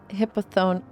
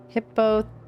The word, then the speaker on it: Hippothoe: I'm Hippothoe? Thoe? I don't know how to read Greek names either. Hippothoe. I think. I think the E is pronounced, right?